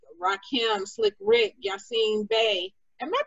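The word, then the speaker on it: Yasiin Bey: to open for legends like rakim slick rick yassine bay am i pronouncing that right i always have issues with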